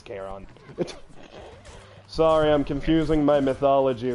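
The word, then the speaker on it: Charon: that one oh wait chathon is a Marvel demon my bad it is keron sorry I'm confusing my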